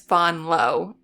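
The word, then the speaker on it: Vanloo: dummies maybe will people will people start saying Julie Von low cuz that's not even really right like you have to say it with a French accent which I can't do but I guess Bon low is the closest to being correct yeah I mean she's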